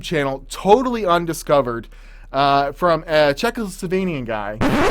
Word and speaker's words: Czechoslovakia: totally undiscovered from a Czechoslovakian guy. All right, first off, I was trying to say Czechoslovakia, not Czechoslovenia. What?